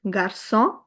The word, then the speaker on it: garçon: The major function is to convert the k sound to the soft s sound of c. So, here, it will be pronounced as garçon.